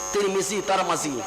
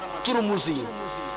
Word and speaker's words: ترمذی: Homs اور Homs دونوں تلفظ صحیح ہے, ترمذی ترمزی اچھا تلفظ صحیح ہے.